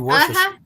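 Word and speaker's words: Worcestershire: It's actually worester.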